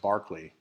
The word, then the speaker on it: Berkeley: He was born in a town that, if you look at it on the page, it's spelled Berkeley, but apparently it's pronounced Barclay in Gloucestershire, which is kind of a fun little thing just to impress your friends.